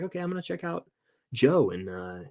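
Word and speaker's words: Djo: I Avengers like okay I'm gonna check out Joe and uh it's spelled dj0 by the way I love it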